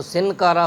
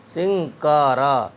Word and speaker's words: سنکارا: الف زبر کھا، پنکھا۔ ایسے ہی سنکارا، سین نون زیر سن، کاف الف زبر کا اگر پڑھ دیا تو سنکارا ہو جائے گا، جو تلفظ غلط ہوگا۔ صحیح ہے تین حرفوں کو ملا کر کے پڑھنا، سین نون کاف زیر سنگ، کاف الف زبر کا، رے الف زبر را، سنکارا۔ کنگن، گنگا، پنکھا، سنکارا۔